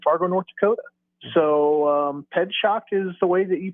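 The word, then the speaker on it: Pietrzak: race back its way back to but yeah ped shock is the way you pronounce it okay so I just looked it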